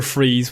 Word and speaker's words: Fries: So as a child, Victor Freeze, he's also named Victor Freeze, but it's spelled Fries.